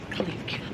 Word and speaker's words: clique: And I think you pronounce it clique. Oh, clique.